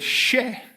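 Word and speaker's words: še: line that the word she the syllable she is actually the Sumerian word for barley so if you're a suiran person you can draw the little um sprig of barley and pronounce it share to mean barley of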